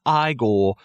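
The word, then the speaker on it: Igor: front and you know now it's pronounced I goal you know when you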